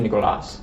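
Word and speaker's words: Nicolás: It's actually Nicolas with the accent on the A.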